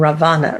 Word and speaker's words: Ravana: My loins are loaded with banyan seeds from Sri Lanka, but I am descended from Ravana. Ravana? Not Ram. Is that the correct pronunciation?